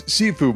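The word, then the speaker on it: Sifu: of many Mysteries including how to pronounce its title it's sefue by the way I looked it up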